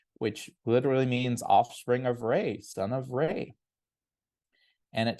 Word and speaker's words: Re: It's pronounced Re, not Ra. Most of the time you'll hear Ra, but it's actually Re, so you can share that as you would like here.